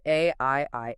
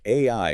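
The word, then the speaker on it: 愛: But AI is also the phonetic pronunciation of the Japanese word for love.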